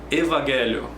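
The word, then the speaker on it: ευαγγέλιο: Exemplo: evangelho, evangelho, evangelho. Você viu que tem epsilon, y, aí em seguida vem o alfa. Então vai ter o som de V, evangelho.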